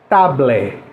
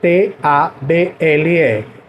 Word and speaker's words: table: Então vejam, a palavra mesa, mesa, M-E-S-A, eu escrevo tablet, eu escrevo T-A-B-L-E, mas eu pronuncio table, table. Lembrem do T, esse T que a língua ela passa um pouco do dente.